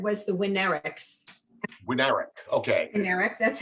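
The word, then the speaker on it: Winarick: A couple of just, like the accent on the wrong syllable. The family that owned the Concord was the Winneriks. Winnerick, okay. Winnerick, that's how it's pronounced.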